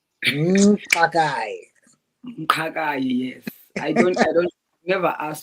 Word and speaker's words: Mqakayi: Yeah, so my surname is Mqakayi. Mqakayi. Mqakayi, yes. I don't never ask what it means, but it's always giving me that thing when I say it, It Mqakayi.